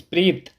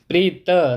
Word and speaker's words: Preet: It's not Preet, it's Preet. Preeta, not Ta.